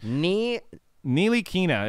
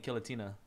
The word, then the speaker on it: Ntilikina: Ntilikina is how you say Frank's name. Ntilikina. Ntilikina. I will forget. I was saying it two ways. Ntilikina, and I was also saying Kilatina. Yeah, I was saying Kilatina. I was even saying Nicotina.